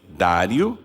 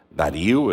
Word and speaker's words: Dário: prosperou no Reinado de Dário ou Daryl né conforme a o local a pronúncia etc eu acho que Dário muita gente fala Dario e também a gente falou Daryl então nós podemos falar as duas formas Aqui tá escrito Dario